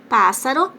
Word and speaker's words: pássaro: Pássaro, o pá é mais forte.